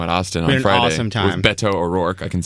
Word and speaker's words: Beto O'Rourke: a great show in Austin for awesome time Beto O'Rourke I can say I pronounced it correctly yes Beto and I played